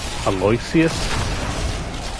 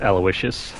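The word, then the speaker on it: Aloysius: one to the left I always thought it was pronounced alus no that's not how you pronounce it it's aloicious the grave Beck it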